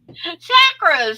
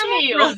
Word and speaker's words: chakra: But actually, it's chakra, like chocolate. It's a cha-cha-cha Mm.